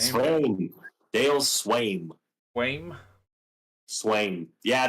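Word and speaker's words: Sveum: Swaim. Dale Swaim. Swaim. Yeah, the V is pronounced kind of like a W.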